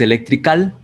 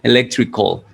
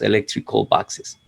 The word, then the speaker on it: electrical: pronuncia al, no es electrical, sino electrical. En realidad esa A no debería sonar, pero es muy parecida al sonido O del español, como más parecido a una O que a una A.